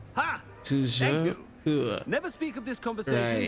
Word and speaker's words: Toujours pur: Toujours pur. Ha! Toujours pur.